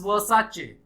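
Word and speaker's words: Versace: लेकिन the brand says it's वर्साचे, इसको pronounce करता है ब्रांड अपने से वर्साचे।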